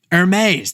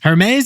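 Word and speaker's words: Hermès: Hermes is the outlier of the luxury industry. I think I overpronounced the H just now, and they're defying the luxury law.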